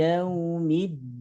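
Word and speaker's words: يَوْمِ الدِّينِ: Maliki yaumiddin. Ini hukumnya harfulin. Jadi huruf lin. Huruf lin yakni wawu sukun setelah harokat fathah. Jadi huruf lin itu ada 2. Yang pertama wawu sukun, kemudian ia sukun. Yang sebelumnya ada harokat fathah.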